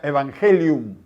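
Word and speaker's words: εὐαγγέλιον: la palabra Evangelio que es una palabra griega que se pronuncia evangelion se traduce como buenas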